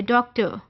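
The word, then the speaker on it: doctor: उसका pronunciation are नहीं British में last are इज not pronounce that is अ हल्की सी अ की साउंड है डॉक्टर डॉक्टर वो जो एंड में हल्का सा अ आपको फील होता है दैट इज शोसा सो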